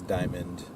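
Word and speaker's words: Dymon: y m o n a lot of people think it's Diamond but very it's basically the same exact pronunciation but there's no D at the end no so it's diamond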